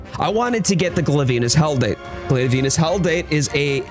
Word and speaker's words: Glavenus: Glavenus, that's right. Not Glavenus, even though that's probably the proper way to pronounce it.